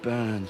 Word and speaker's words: burn: So if you listen very carefully, the subtle difference is the way that he pronounces the R's in some words, such as tear, heart, and burn. Now in British English, we tend to soften this R sound so you don't really hear it, whereas in American English,